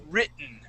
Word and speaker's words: written: we eat those tees the te's are going to be silent okay just like we did in the word soft drink we we take out that that t sound but here when we say that uh we say the word written we uh we sort of do an inflex with our voice when I say written I say written okay so I say writ written okay so hand